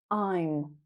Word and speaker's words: I'm: I am I'm sounds like time.